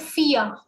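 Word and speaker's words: vier: called dry dry then four is called fear fear we know that v has a four sound in german so fee ah r is not having raw sound here mostly what happens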